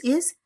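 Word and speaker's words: haïr: One more example I'll write here. I. Here again 2 dots on I. And here see H. I'm not pronouncing H because H is silent.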